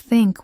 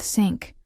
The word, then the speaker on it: think: So Mark would often replace think with sink or that with zat.